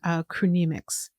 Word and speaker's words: chronemics: You're an expert in chronemics. Is that how you pronounce it? That's it. That's how you pronounce it. Chronemic. Okay. How do you explain that? What is that? Sure. Chronemics is simply the study of time as it's